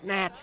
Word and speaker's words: gnat: It's a G. Silent. It's gnat.